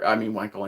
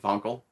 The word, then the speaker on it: Wankel: It's got a Wankel engine. I think it's pronounced Vonkel, but yeah.